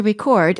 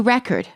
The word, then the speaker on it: record: each of these sentences notice the stress changes the singer wants to record a new record the drug addict is